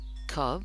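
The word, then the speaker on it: Colb: and that's by Professor Sher f cob or cab I think is her correct pronunciation of her name and that's that's an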